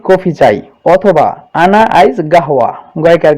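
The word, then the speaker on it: قهوة: কিছু বাঙালিরা উচ্চারণ করে গেওয়া, গেওয়া বলে। মূলত এই শব্দটা হলো গাহওয়া, এখানে কফ দিয়ে বলে, কফ হা ওয়াও গোলতা। তো অনেক বাঙালির উচ্চারণটা আমি এভাবে শুনছি, গেওয়া, আইজ গাওয়া, আইজ গেওয়া, আনাইজ গেওয়া, এভাবে বলে তারা। মূলত শব্দের উচ্চারণটা হবে আনাইজ গাহওয়া এভাবে। তো আপনারা যত ভালোভাবে শব্দের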